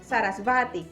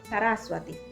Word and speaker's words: Saraswati: saber que, por ejemplo, en la palabra Saraswati, nunca decimos Sarasvati ni Saraswati. Realmente se pronuncia es como una leve U, Saraswati, igual que en Swami.